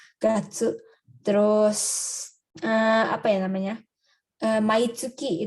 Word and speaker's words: gatsu: Terus gatsu juga cara baca dari Tiongkok, gatsu.